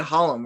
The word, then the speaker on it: Holumb: You said Holumb, right? Yeah. I just want to make sure. Yeah. That's what. But it's been Holumb. Right. Holumb, all kinds of stuff.